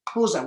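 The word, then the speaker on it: Xuza: and his surname is kuza in south africa we have uh clicks in our language koza which is x-u-z-a so let me tell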